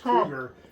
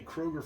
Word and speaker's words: Krueger: But he actually said, "Uh, people have been saying my name wrong for 20 some years. It's Krueger. It's pronounced Krueger." And he said, "The media's been calling me Kroger for so long, I just didn't feel like correctly."